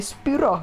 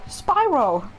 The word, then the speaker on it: Spyro: neb welcome to Spyro I go for the weird English pronunciation of Spyro normally I just say spirro but when I'm talking English I go Spyro so weird Okay controls